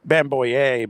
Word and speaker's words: Bamgboye: Texas Tech, Luke Luke Bamgboye, but his name is spelled B M G B O Y E and there's no place for that G anywhere. You just got to Yeah,